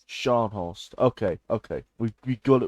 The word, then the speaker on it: Scharnhorst: Um, Scharnhorst. Scharnhorst. Okay, okay. We got it right. We got it right. Now, everybody knows that Scharnhorst in Battleships has the 283mm guns. The Scharnhorst in Naval 1945 has the 380mm guns, which